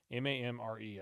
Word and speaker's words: Mamre: I don't know how to pronounce this. M-A-M-R-E.